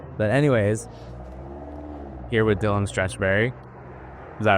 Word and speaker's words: Stretchbery: English coach interesting and I loved whenever he'd say my name and you to say Mr Stretch bery can you take the third wiek at stretch I say stop it right now it's stretch Berry well yeah that's how